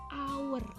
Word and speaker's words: hour: Walaupun depannya huruf H, tapi ternyata H ini dibacanya hour.